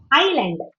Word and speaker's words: island: Island.